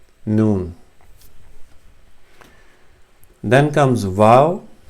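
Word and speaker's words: واو: Then comes vav. Vav is as in V or an W, like vessel, as in English vessel.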